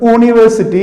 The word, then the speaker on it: university: You see, U, when you say U, it is actually Y-U, U. University, not university, it is university.